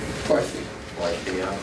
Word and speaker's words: WIFIA: WIFIA.